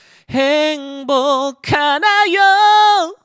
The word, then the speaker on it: 행복하나요: 여러분들이 좋아하는 구간 나오죠 하나여로 발음하지 마시고 카로 발음합니다네 행복할 때 복자의 기억 받침이 있죠이 기억과 히읗이 만나면 강한 소린 키읔으로 여러분들 발음을 해주시면 돼요 그러면 행복하나요 여자도 올라갔다가 그냥 두지